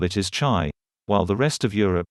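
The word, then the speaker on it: 茶: one alphabet which is pronounced as cha in cantonese or mandarin and pronounced his tay in the min dynasty wherever tea reach through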